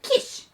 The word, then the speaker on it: Kish: At this time, there was a powerful man in the tribe of Benjamin named Kish. Rhymes with fish.